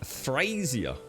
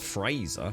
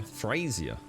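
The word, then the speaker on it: Frasier: Frazier. Not Fraser. Frazier.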